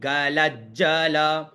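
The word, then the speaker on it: गलज्जल: अथ शिव तांडव स्तोत्रम जटावी गलज जल प्रवाह पावित स्थले तो प्रथम श्लोक क्या है जटा टवी गलज अब यहां डबल ज है तो जटा टवी गलज जल प्रवाह पावित स्थले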